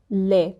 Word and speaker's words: lait: Now, we tend to not pronounce the last words in French, especially when you see words ending in T. You will not pronounce it. For example, haricot, lait. We don't pronounce the T.